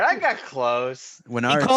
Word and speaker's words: Wenerd: pronounce that? Yeah, it's Wenerd. You the Wenerd. latter. Yeah. All right, I got close. Wenard sounds he very called you- like pro surfer.